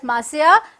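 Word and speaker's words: monsieur: the gotyears got yours m is an abbreviation for maurya pronounced as masaya french for mr what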